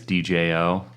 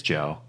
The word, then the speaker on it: Djo: didn't know that yeah his name is djo which I just called him DJ for the longest time DJ it's Joe if you pronounce DJ it sounds like Joe like Joe Kiri Jin